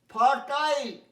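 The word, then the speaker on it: fertile: ফার্টাইল, দেখো FER আছে, ফার বললাম না, ফার্টাইল, 8টা suppressed, ফার্টাইল, chime, nice, kite, knife, এটা উজ্জ থাকে নিশ্চয়ই ক্লাস 1 থেকেই জানো, KNIFE নাইফ।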